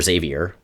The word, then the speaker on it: Xavier: so I pronounce it Xavier because that's the way it's pronounced in all of the audio based versions so it's it's the